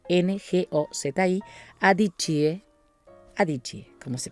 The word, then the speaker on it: Ngozi: Ngozi se pronuncia con la boca cerrada, Ngozi, Adichie, como se pronuncia.